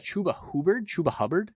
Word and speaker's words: Chuba Hubbard: Next up, we got Chuba Hubbard.